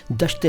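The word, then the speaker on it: دشت: और दूसरा है सुखन देखो दस्त नहीं है और सुखन नहीं है शुद्ध उच्चारण हमारे चैनल की विशेषता है इसलिए हमारे वीडियोस ध्यान से देखा कीजिए और मुझे ध्यान से सुना कीजिए दश्त बोला है दस्त तो कुछ और होता है वो भी होता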